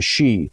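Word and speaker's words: sidhe: the she uh it's it's spelled s-i-d-h-e in irish the the she and that's where you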